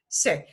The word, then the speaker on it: sé: That accent mark does not change how we pronounce it. It's just in writing form.